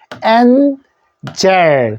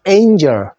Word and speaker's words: angel: 엔젤. 그래서 우리가 엔젤, 천사를 엔젤이라 그러는데 요거 A로 읽어 주십시오. A에다가 니은 하면 ain이죠. 요걸 어설로 angel. 나는 알고 있는 게 엔젤인데 영어 발음은 angel.